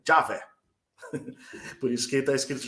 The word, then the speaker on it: Javé: Só que não é Iaé, a pronúncia antiga era Já, né? Então fica Javé.